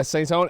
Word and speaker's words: Saintone: Yeah, Saintone. Oh, that's how it's pronounced.